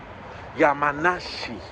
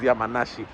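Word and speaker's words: 月見里: Hay uno que es eh Tsukimi, pero que tiene el kanji de ah no, Yamanashi. Así es, llamanashi, que a pesar de que tiene el vocablo llama, que es montaña, se escribe con este luna, con el kanji de Miru de Ver y con el kanji de Sato, el de Furusato, el de pueblo. Y no tiene canji de montaña porque el primer Yamanashi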